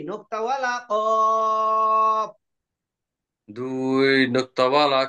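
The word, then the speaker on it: ق: ওইটা উপরের তালুর সঙ্গে লাগবে, লেগে উচ্চারণ হবে কফ। কপ।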